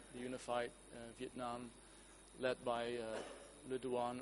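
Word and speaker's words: Lê Duẩn: unified Vietnam, led by Le Duan or Le Yun, as I understand you have to pronounce it in Khmer?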